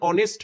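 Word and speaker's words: honest: letter দিয়ে শুরু হলেও তার উচ্চারণ কিন্তু হ দিয়ে হচ্ছে না হচ্ছে কি দিয়ে অনেস্ট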